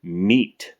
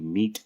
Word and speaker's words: Mete: the TP9 and the MEAT, which is a second word that was mispronounced. Hopefully, you guys have been keeping track. That's MEAT, as in to mete out justice.